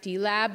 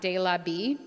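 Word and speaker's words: dLAB: east of La Brea which I only late learned it's pronounced d-lab not de la be and likely now ELISA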